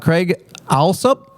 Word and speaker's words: Craig Alsup: Craig Alsup. Yes, sir. Okay, that's how you pronounce his name.